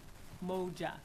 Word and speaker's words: Umoja: for pronouncing us correctly it is moja and he did pronounce that correctly it's a key swahili word meaning unity emoji is a critical